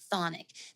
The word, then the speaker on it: chthonic: The word thonic. This is spelled CHTHONIC.